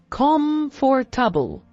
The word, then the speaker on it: comfortable: Example, if you struggle with the word comfortable, break it into smaller parts. Calm for tubble.